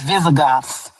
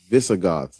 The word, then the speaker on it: Visigoths: Is it Vizzy? It's Visigoths. Visigoths.